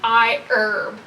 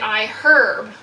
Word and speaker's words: iHerb: People always comment about how I say iHerb like that, but a few years ago I did a sponsored video with them, and they explicitly said, please pronounce it iHerb. The longest time I've been calling it iHerb, but they wanted it to be herb. They were super specific about that.